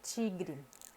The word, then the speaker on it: tigre: tá até só então tem que ter atenção com o tecon i i você lê ti e como chica em espanhol tio esse é o som do t com ele em português então por exemplo tigre tigre ou dente né e